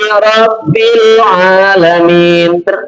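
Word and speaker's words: رَبِّ الْعَالَمِينَ: Alhamdulillahi rabbil alamin. Jangan bil juga, kalau bil salah. Karena karobba berharokat kasroh, bacanya di, bukan d.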